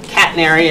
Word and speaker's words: catenary: First part of the word is like a pet that some of you may have. Catenary.